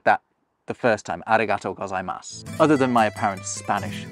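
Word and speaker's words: ありがとうございます: Now, did you notice anything about how I said that the first time, arigatō gozaimasu, other than my apparent Spanish accent? I didn't pronounce that U that you can see at the end.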